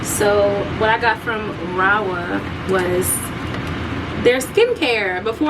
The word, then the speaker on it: Rahua: Raa. I always say that. I always say it wrong. It's Rawa.